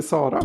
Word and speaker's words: Sara: Should I say Sara or should I say Sara or something in between? What was the second one you said? That's a Swedish pronunciation of Sara. Oh, maybe it's in Portuguese it's Sara.